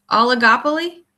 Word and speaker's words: oligopoly: I just started is it pronounced oligopoly? It is.